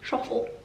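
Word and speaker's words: Schöffel: Even when you say it, you have to do something posh with your mouth. Schoffel, Schoffel.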